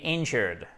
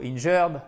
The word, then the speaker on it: injured: Ensuite, to be wounded, to be injured. Alors, pas injured ou injured, non, injured. Faites vraiment pardon, bien l'accent tonique ici, c'est super important.